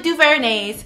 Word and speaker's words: DuVernay: So this Smart Brown Girl is dedicated to giving my second Smart Brown Girl movie review for the Ava Duvernay's Selma.